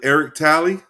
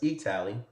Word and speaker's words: E-Talley: Again, we're here with Eric Talley. No. It's E-Talley. E-Talley.